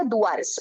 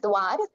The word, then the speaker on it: Duar: We call it the Duars. Okay, Duar is a mispronunciation of the Hindi word Dwar or door.